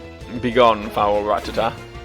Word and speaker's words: Rattata: i'm pronouncing wrong is thinking back on the anime they call it like rattata right rattata the emphasis is in a different place like all my pronunciations